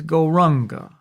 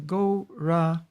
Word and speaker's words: Goranga: All right, so the mantra is Goranga, divided into 4 syllables, Go-Ra-Anga.